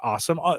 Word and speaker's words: Alxum: They pronounce it just awesome.